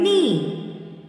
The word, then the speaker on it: knee: Then eighth one, knee. Which is the silent letter? K. Now circle the letter K.